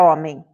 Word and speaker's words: homem: Eu não tenho o som do H, mas eu tenho o som de O, né? O, M, em. No em, o que acontece? Eu falo homem, do jeito que se escreve? Não, né? Eu falo homem. Tem o som do M, do E, e não tem o som do I aí no finalzinho?